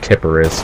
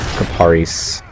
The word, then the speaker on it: Kiparis: gun and i used to thought it was pronounced tipperis but i looked it up and it's the uh caparies but yeah pretty uh pretty it's a decent